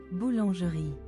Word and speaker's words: boulangerie: Bow lan re. Oh, which, you know, I wonder what that meant. It literally translates to bakery. Boulangerie.